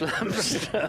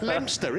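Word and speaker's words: Leominster: You they don't pronounce the O. Well, why put it in there then? It's Lamster. Lamster in it.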